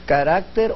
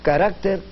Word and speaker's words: carácter: Pero la otra pregunta era si es carácter o caracteres.